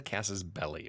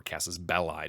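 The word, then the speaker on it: casus belli: thing you need is a casus belly or casus bellai depending on how you want to pronounce it so that literally translates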